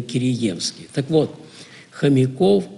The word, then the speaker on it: Киреевский: извините, но вы знаете, здесь у нас принято говорить Киреевский, а не Киреевский. Я помню, потом лазил в энциклопедию, смотрю, там стоит два ударения. То есть и то, и другое. Но местное именно произнесение, именно Киреевский.